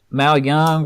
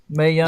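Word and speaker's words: Mae Young: The Mal Young. How you say her name? May Young.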